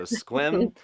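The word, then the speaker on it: Sequim: So Squim, Washington. Guys, I'm liking the pronunciation key.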